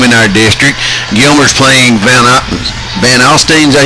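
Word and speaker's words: Van Alstyne: Gilmer's playing Van Alstine, is that how you say it?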